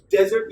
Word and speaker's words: desert: Desert is the other one. Morubhumi jeta boli ota desert. This one is desert. D. D. You must have realized, right? Like most of the people do pronounce this desert. This is not desert. That would be desert, like D-E-D.